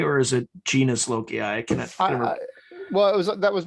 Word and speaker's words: genius loci: Is it genius loci or is it genus loci?